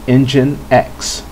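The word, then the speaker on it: nginx: briefly talk about is this one here you pronounce this one has untold engine X engine X is another web server I hear it's becoming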